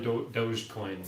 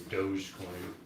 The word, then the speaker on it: Dogecoin: I'm not in Dogecoin, Natasha.